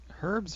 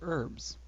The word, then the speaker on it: herbs: in this note here is it herbs or herbs I thought it was a silent H all right what's our